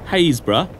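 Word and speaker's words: Happisburgh: sea is clearly winning hazb or as it's spelled harisburg the cliffs are retreating at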